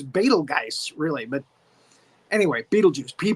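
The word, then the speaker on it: Betelgeuse: GE which is Beal Geist really but anyway Beetle Juice he pronounces it Beetlejuice and we have that pan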